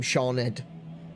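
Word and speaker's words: Siôn: SH does exist, but SI is also is often pronounced as sh, like in the name Shawned, or in the name Shan.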